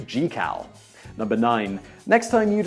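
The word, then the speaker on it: Jekyll: Sea number eight you might think that the Jackal in The Strange Case of Dr Jackal and Mr Hyde is pronounced as such but it's actually pronounced differently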